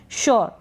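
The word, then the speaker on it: sure: यह है श्योर, क्या है श्योर, आप शुआ करके पढ़ देंगे नहीं, श्योर, थोड़ा सा आप प्रोनाउंसिएशन पे ध्यान ज़रूर दें।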